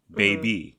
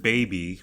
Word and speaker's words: baby: And then I thought about the word baby, which comes up often in pop music. And majority of the time, it's not pronounced with the Y or the E. It's pronounced with the EH.